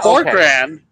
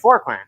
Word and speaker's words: Forqeran: I'm gonna say Kurt Forkr, but it's probably not pronounced that way. How? No, that was nearly perfect. Yeah, forrand. Okay. Forkran.